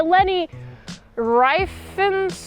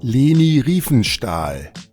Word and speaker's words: Leni Riefenstahl: It is directed by Lenny Riefenstahl. How do I pronounce this guy's name? Leni Riefenstahl.